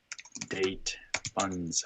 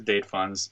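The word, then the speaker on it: date-fns: and say npm install date funds. I don't know how to pronounce it. I just say funds. It's not like date functions. It's FNS.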